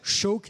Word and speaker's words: Seabhac: ce numéro 49 choc s'écrie seebach et ça se prononce donc choqué ça veut dire faucon en gaélique un jeune étalon 1